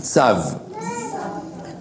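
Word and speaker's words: צו: Tzav, con V muda al final, tzav.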